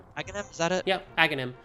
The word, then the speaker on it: Aghanim: Yep, Aghanim. It's the H, there's like, Aghanim and Sahasrara have weird H's in places you're not supposed to pronounce them.